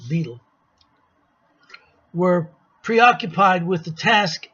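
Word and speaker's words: Bedell: and general WB Smith that's Beatle Smith they called him he spelled Vidal but they pronounced the beetle were preoccupied with the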